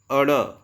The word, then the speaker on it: ड़: ड के नीचे जो बिंदु लगा हुआ है इसका उच्चारण हम अड़ करते हैं और ढ के नीचे जो बिंदु लगा हुआ है इसका उच्चारण हम अड़ करते हैं।